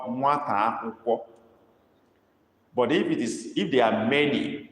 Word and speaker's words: akwụkwọ: UMU dot under the two U's, and then akwụkwọ is spelled AKWU KWO. Akwụkwọ, but dot under the U, dot under the O.